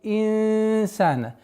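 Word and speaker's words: الإنسان: Халякаль инсана. Касра. Ясное произношение. У нас ихфа. Четкая назализация в размере двух огласовок.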